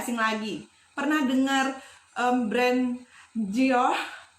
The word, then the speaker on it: Dior: Pernah dengar brand Dior? Tulisannya Dior tapi bacanya Gio. Pernah nggak?